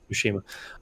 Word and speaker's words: Tsushima: probably keeping ghosts of tashima down is that tsushima the t is silent right yeah yeah ushima um is it that